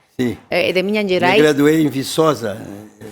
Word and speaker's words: Minas Gerais: pero él es de Minas Gerais, ¿está bien pronunciado? Sí. De Minas Gerais.